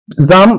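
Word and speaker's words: psalm: জাম কথাটা মানে কি জাম পি A sorry P এস এ এল এম জাম অর্থাৎ পি টা সাইলেন্ট থাকবে এল টা সাইলেন্ট থাকবে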